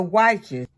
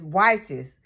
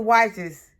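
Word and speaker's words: Wyche: any of the San monano or the Dr wies I had a comment from someone on the channel and they said that their name that was their last name and they said that the right pronunciation is whes so it's Dr Wes tomato so I was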